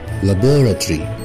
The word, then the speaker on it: laboratory: يبقى ننطقها بالبريتش ونقولها laboratory, laboratory, laboratory. اما لو هننطق الاو التانية يبقى مش هننطق الاولانية ونقولها بالامريكان laboratory, laboratory, laboratory.